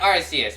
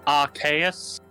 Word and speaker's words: Arceus: Is it Arceus or Arceus, not I tried to pronounce it as Arceus because Arceus's name is based off of Deus, which means God.